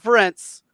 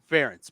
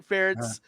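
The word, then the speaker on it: Ferentz: times it's Ferris not France ference Brian ference rhymes with parents and for a guy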